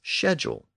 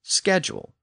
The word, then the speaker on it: schedule: much of the Commonwealth have tended to pronounce the word as schedule, but American English uses schedule.